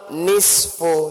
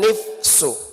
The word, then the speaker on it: nisfu: Kami ulangi malam Nisfu Syaakban. Nisfu bukan nifsu. Kami ulangi malam nisfu Sya'ban. Bukan nifsu tapi nisfu. Nun dulu baru shad baru fa. Bukan nun fa baru shad.